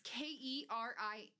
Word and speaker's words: Kering: Is it spelled like caring, like they're caring, or like... No, it's Kering, okay? Like Karen. No. Oh. With an E.